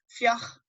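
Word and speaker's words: fliuch: As long as you don't pronounce it like a hard C, I'd rather you pronounce it like, almost like a H than a hard C. Fioch.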